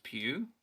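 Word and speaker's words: Pugh: that is is florence pew i i really liked her is that how you pronounce her last name yeah sorry i've said poe all this time po yeah q oh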